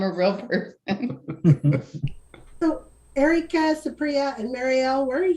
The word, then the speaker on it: Supriya: It's Supriya. Supriya. I was close. I was so close.